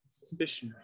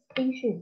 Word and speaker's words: Suspicion: Suspicion. Suspicion. Đây con nhìn nhé, nó sẽ là âm 2. Đó. Suspicion.